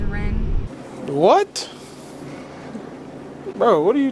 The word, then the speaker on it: Ryn: together as well yeah she has like a rin has a little nickname like ryan rin because it's spelled r-y-n and i i just called her ren but her name's rin what bro what are